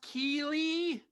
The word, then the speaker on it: Keighley: I think it's pronounced Keeley. spelled strangely, but I think that's right.